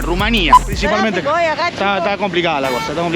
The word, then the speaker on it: Rumanía: de este video que nos referimos al país como Rumanía o como Rumania, porque ambas pronunciaciones están correctas en el castellano, pero la pronunciación en rumano suena muy parecida a la fonética que dicen en España, Rumanía.